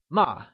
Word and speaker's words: mà: So remember, the fourth tone, also called the falling tone, is denoted by a downward slant from left to right over the vowel. It shares intonation with commands such as stop. And a good example of this tone is ma.